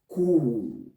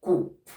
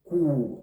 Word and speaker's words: coup: Therefore, the P that ends it is also going to be silent. We pronounce that word as cool. Coup, not coop. The word is cool and not coop.